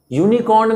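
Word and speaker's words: unicorn: उसी तरह से यूनिकॉर्न में यू, उसका स्टार्टिंग लेटर यू है, बट उसका जो प्रोनाउंसिएशन होता है उससे पता चलता है कि ये वाई से स्टार्ट हो रहा है, यूनिकॉर्न।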